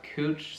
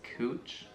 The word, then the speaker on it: Couch: We have Willamette, we have Cooch Street, which is spelled the same as couch, but trust me, it's Cooch after someone's last name.